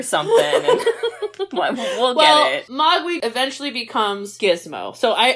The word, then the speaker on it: Mogwai: Mogwai. But yes. Almost. Okay, what I hear and what I spell never match up. Wait, how do you say it again? Mogwai.